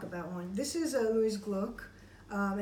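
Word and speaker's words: Glück: Well, Gluck, it should be pronounced, but I know she doesn't pronounce it that way.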